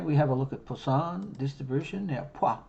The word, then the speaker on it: Poisson: now it's a funny it's a funny pronunciation this one it's poison so it's like there's not an australian equivalent to this so poor it's about as close as it gets okay so um but